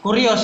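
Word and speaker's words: κύριος: Ini siapa bacanya? Kurios itu bacanya.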